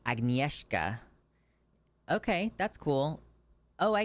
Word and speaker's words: Agnieszka: By the way, the name is pronounced Agnieszka.